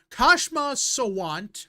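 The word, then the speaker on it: Kshama Sawant: And there's an ex Seattle uh city council woman Kashma Sant.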